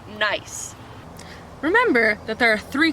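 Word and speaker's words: gneiss: of like kinase but it's actually pronounced nice which is fun because nice it's nice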